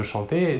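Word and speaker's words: chantent: Nous voyons que la terminaison ENT de la troisième personne du pluriel ne se prononce pas et donc nous prononçons la conjugaison du verbe chanter comme les trois premières personnes du singulier.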